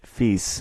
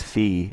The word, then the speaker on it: fils: In the video, I explained that in French, fils, which I mispronounce as fille, means son, and that fils à Tudor means Tudor's son.